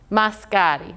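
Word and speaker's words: masikati: zimbabwe as they're speaking they will sometimes get rid or just join these together a little bit faster so it really sounds like mascari mascotti there's that little lift of the e of the i sound there mascotti very good so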